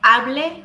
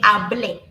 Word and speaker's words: hablé: So instead of saying hable, we say hablé.